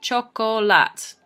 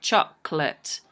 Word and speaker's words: chocolate: so it sounds like chocolate so you can see that it actually only has two syllables and that the sounds